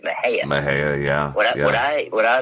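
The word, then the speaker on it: Mexia: A lot of people pronounce it Mexico, but it's actually, we pronounce it Mejia.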